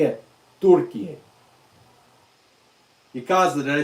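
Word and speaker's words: Türkiye: You say it, Turkiye. Yakaza, did I say it right? Turkiye. That's how you say Turkey, the country of Turkey, in Turkish. You say Turkiye.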